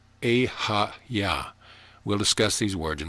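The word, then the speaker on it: Eheieh: or in tone is ihi e-h-e-i-e-h pronounced e ha-ya we'll discuss these words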